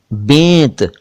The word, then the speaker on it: बेंत: फेर, फेरा, फेरी, बेंत, बैत नहीं, बेंत, बेगम, बेगाना, बेचना, बेड़ा, बेड़ी।